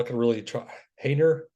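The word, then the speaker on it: Haener: Hayner, I believe that's how you say it.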